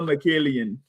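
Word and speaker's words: Mikaelian: How do you pronounce it, James? Noel Michaelian.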